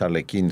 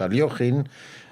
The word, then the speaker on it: Alekhine: solamente decir que Aliógin, porque no es Alekhine, sino su nombre, su pronunciación es Aliógin, hay que saber que